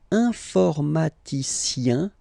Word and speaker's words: informaticien: All right, and the last group is IEN, informaticien, yin. So that's the way to pronounce this IEN, yin.